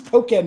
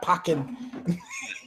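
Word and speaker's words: Pokkén: It's Pokken, not Pokken.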